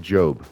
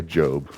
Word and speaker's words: Job: And so the backstory with Job is so there was this guy, Job, which is funny because it's spelled job, and I almost wonder if there isn't like some kind of link there.